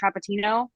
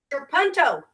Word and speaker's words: trapunto: Trapettino? Trapunto.